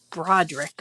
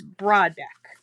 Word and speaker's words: Broadbeck: I just want to say Broderick for some reason, but it's not. It's Broadbeck.